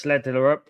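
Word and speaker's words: Schjelderup: Like, just because you get it wrong, Bob is coming on, as well as Schlederup, guys. That's how you pronounce his name.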